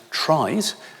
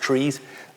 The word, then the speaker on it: trie: also trees spelt t-r-i-e which some people pronounce tries a try is also